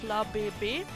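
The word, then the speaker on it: Flabébé: If we look at the official French, how you do it with these accents on top of the E's, it's Flababy. As the E with that accent is pulled out a bit, it's long.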